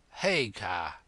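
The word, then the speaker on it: Haigha: when he's happy his name's his name is haa he pronounced it so as to rhyme with Maya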